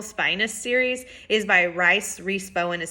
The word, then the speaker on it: Rhys: It is by Rhys. Bowen is spelled R-H-Y-S, so I hope I'm not pronouncing her name wrong.